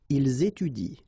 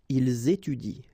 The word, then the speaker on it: étudient: form, so and t, well, you don't pronounce it, so you will get ils étudient. All right, ils étudient.